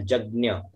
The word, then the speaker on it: यज्ञ: Hello, ये यज्ञ भी बोल सकते हैं ना इसमें, मनोज उत्तर में आ रहा है यज्ञ ना का उच्चारण होना चाहिए। देखिए यज्ञ है ना, यज्ञ यह शुद्ध उच्चारण है यज्ञ।